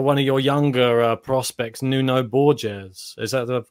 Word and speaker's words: Nuno Borges: on the radar, one of your younger prospects, Nuno Borges. Is that the correct pronunciation?